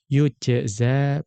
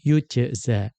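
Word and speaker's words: يُجزى: Faqad qara'a yujza bil ya'i madmumatan. Abu Ja'far pada ayat ini itu membacanya dengan yujza, ya, bil ya'i madmumatan, yang ya-nya dibaca dhammah.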